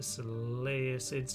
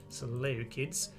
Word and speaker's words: Seleucids: Okay, so Nothing too interesting on that first message, of course, but let's go and see if the Seleucids or Seleucids, however you want to pronounce it really, Seleucus, but I'm going to call them Seleucids.